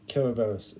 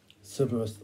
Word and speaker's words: Kerberos: Yeah, Kerberos is the the correct pronunciation, apparently. I've always called it Cerberus, like Cerberus sort of thing, and that's kind of the thing.